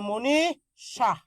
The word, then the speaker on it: মনীষা: আছে এই যে দীর্ঘই দীর্ঘই থাকলে এর আগের অটা কি হয়ে যাবে ও হয়ে যাবে তাহলে ময় কারে ম দীর্ঘই থাকলে রসই নি এই যে পেট কাটা মূর্ধন্যস সিজারের রোগী যেটা আছে ভালো করে খেয়াল করেন তালবস মূর্ধন্যস দন্তস এই তিন সরি থাকে তাহলে এর উচ্চারণটা হবে তালবস সবসময় কি হবে তালবস ওকে সবসময় কি হবে তালবস আচ্ছা তাহলে মনিশাহ মনিশাহ আচ্ছা অধ্যাপক বানানটা করে দিচ্ছি